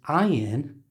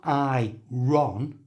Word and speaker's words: iron: try in the word iron the r you can see is followed by a vowel sound but the r is silent it's the only time that it happens so it's not I Ron it's iron you try